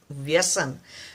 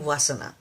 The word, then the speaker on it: Vyasan: Because it is very hard for people to pronounce the word, especially the Western English speaking community. It's hard to pronounce a word Vyasan. So it became Vasana. Vasana is not the right word actually.